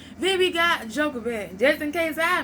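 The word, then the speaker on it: Jochebed: Then we got Joker. Just in case I mispronounced that, that spell J O C H E B E D.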